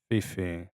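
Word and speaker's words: Phi Phi: But yeah, we went scuba diving in the Fifi Islands. Um was it Fiji Islands? Fifi Islands. Fifi. Yeah. P H I P HI.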